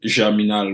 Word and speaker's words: Germinal: He wrote a book called Germinal, which is I pronounce it in French.